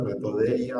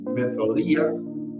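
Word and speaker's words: μεθοδεία: del griego metoda metodia algunos lo leen Pero está bien las dos lecturas metodia o metod metoda sería la pronunciación real de este de esta palabra que tiene varios significados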